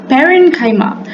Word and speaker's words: parenchyma: An easy way to remember this is parenchyma. Paren sounds like the word parent.